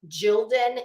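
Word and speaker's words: Gildan: I think it's I don't know if I'm pronouncing it right but I believe it's called jilden it's g-i-l-d-a-n I guarantee every person in this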